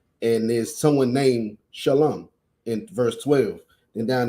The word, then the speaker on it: shalom: but he was saying even if it's spelled like that it's still pronounced shalom i'm gonna have to